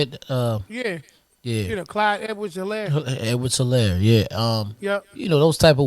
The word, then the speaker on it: Edwards-Helaire: Edwards-Helaire, yeah.